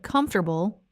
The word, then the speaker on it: comfortable: In natural English, the word comfortable is said in 3 syllables, not 4. It sounds like comfortable, comfortable. The whole middle section of the word, the forte part, gets compressed into just ter.